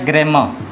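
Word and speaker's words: grammar: ये आर को साइलेंट भी देखिए, आर से पहले कोई भी वॉवेल साउंड होता है तो इस आर को हम लोग साइलेंट कर देते हैं।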